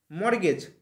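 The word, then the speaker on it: mortgage: বানান ঠিক আছে নেক্সট দেখো মর্গেজ তাইতো এটা মর্গেজ এম ও আর টি জি এ জি টি টা কিন্তু উজ্জ্ব থাকে মর্গেজ মানে হচ্ছে বন্ধক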